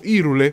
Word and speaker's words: Hyrule: E abbiamo soltanto un'ultima gara nel castello di Hyrule, o Irule, come spesso lo pronunciano qui in Italia.